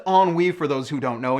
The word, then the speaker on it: ennui: Hey trolls, at least this guy used a big college word, and it's pronounced ennui for those who don't know, and you can go Google that one too.